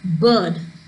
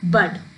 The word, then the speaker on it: bird: And when we pronounce this word as we say it as bird. We don't say it as bud. We say it as bird.